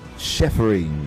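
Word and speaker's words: shepherding: Um and um also just to correct that pronunciation is shephering. All right. Uh-huh. So um both of them. Yeah, both of them. Uh um so it's shephering. It's a chef sound.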